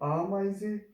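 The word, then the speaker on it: Ameise: फिर हमारे पास ये एक कॉम्बिनेशन था ए ई इन जर्मन लैंग्वेज, और ये एक आई की आवाज़ प्रोड्यूस करेगा, इसलिए ये आमाइजे।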